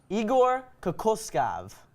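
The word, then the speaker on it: Igor Kokoškov: okay pop quiz okay how do you correctly pronounce the name of the son's new coach Igor Kaku scoff yeah and you know what we're all saying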